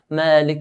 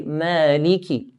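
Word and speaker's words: مَالِكِ: Malik Yawmiddin, which is incorrect. It should be Maliki. Liki. You should hear the kaf with a kasra. Ki. Maliki Yawmiddin. The next ayah, we have the word Iyaka.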